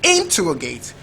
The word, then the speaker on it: interrogate: First syllable is it interrogate. Second is it interrogate. Third is it interrogate. Fourth is it interrogate. Now the word is usually stressed on the second syllable also, so the word is